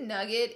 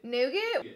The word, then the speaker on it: nougat: overachiever concealer I'm using it tight is it nugget and oh you g80 is that nugget come how to pronounce that yeah we're both confused here it's